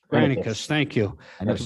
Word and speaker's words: Granicus: Granicus? Granicus, thank you.